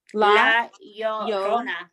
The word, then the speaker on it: La Llorona: Say la, and then say yo, like yo, what's up? La Llorona. And then say Rona, but with like roll your R. So it's really just three. La Llorona.